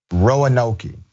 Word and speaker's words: Roanoke: By the way, for audio only viewers, the pronunciation is Roanoke.